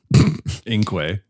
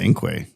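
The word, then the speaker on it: Inque: Well, Inkway. Yeah, Inkway. It's spelled Inkweling.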